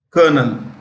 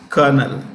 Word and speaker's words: colonel: In like Colonel, this is pronounced Colonel. How do you pronounce this? Colonel.